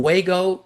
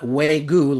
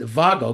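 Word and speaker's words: WAGO: And I got now so into I call them WGO connectors, not WGU like the beef or uh WGO. Uh Germans pronounce it Vago because I think it's a German company. Uh regardless, I love these Waggo the connectors.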